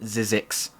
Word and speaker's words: ZZYXX: It's pronounced Zizix.